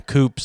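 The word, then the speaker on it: coupé: boot and a bonnet, and then we call them coupes, and you guys call them coupe, or he calls them that anyway. That's right. Yeah. We pronounce the E on the end.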